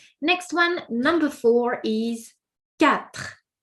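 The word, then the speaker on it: quatre: Next one number four is cat. So qu is pronounced like a k cap.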